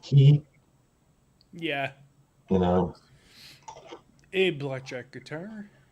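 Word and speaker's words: qi: i think it's pronounced key yeah you know a blackjack guitar blackjack guitarist here nice i mean q i is actually how you pronounce the word chi like chi energy but they didn't pronounce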